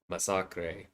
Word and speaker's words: Masacre: Spain they translate Deadpool as Masacre with one S, as in the Ah, Spanish way of pronouncing that word with one S.